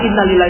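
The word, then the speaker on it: إنا لله: kita sering kalinya ngomongnya innalillah tapi innalillahnya intonasinya yang tidak padahal innalillah itu dibaca sama dengan Alhamdulillah sama jiwanya sama dengan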